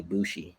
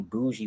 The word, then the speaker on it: Boujii: And everyone would just say first they would call me Boujii when the name was Bushi.